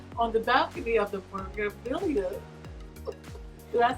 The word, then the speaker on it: Meraviglia: We are actually on the balcony of the Meraviglia. Did I say it right? The Meraviglia.